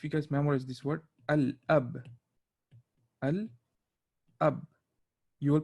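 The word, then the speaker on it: الأب: So for example, if you guys memorize this word al ab, you will pronounce the al.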